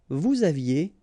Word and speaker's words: vous aviez: Vous aviez, EZ at the end, et aviez, and then liaison. Vous aviez.